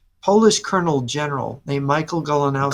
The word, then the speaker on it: Goleniewski: He was a Polish colonel general named Michael Golanowski. Goleniewski. Yeah, and Golanowski. Is that how you pronounce it in Polish? I think it's Goleniewski, but I'm not 100% Golanowski.